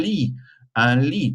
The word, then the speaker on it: lit: Un lit, T is silent.